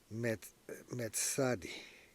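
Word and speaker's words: מִצַּד: And now, it’s pronounced mits-tsade.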